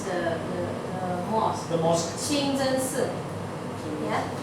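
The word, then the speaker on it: 清真寺: Okay, and then this should be the way to pronounce the mosque. The mosque. Qingzhensi.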